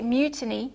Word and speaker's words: mutiny: is uh tense free so you say Mutiny Fury okay not M fur Okay Mutiny Fury the vowel is also free okay and that's a